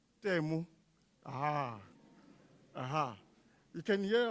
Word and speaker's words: Temu: I don't know if any of you have heard of something called, I think it's called Tumi or Tumi. Can somebody pronounce it for me? Pardon? Tumi, is it that online thingy? Temu.